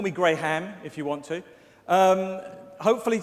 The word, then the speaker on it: Graham: It's spelt with an H, and you don't pronounce the H, by the way. So it's not Graham, but I don't get offended.